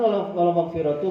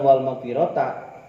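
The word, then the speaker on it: والمغفرةُ: Wa qala al-Hasan wal maghfiratu biidni. Nah, sementara Imam Hasan bacanya bukan wal maghfirata.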